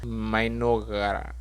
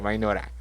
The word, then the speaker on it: Mynoghra: Bienvenidos al resumen del anime Isekai Mokushiroku Mainora, sí, así se pronuncia, Mainora.